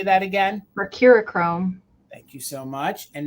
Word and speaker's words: Mercurochrome: Mercurochrome.